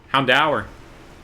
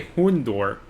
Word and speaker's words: Houndour: Houndour. Houndour. I say Hundor.